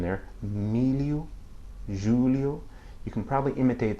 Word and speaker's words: milho: You can hear the pronunciation there, milho, Julio. You can probably imitate that, but think of it that it sounds like the double L-I in the English word million.